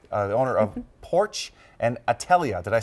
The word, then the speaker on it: Atelier: We're going behind the business with Teresa DeJarlais, the owner of PORCH and Atelier. Did I say it right? Atelier.